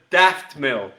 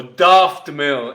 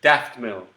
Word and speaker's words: Daft Mill: You're looking for Daft Mill, or Daft Mill if you're very English, but Daft Mill, Daft Mill.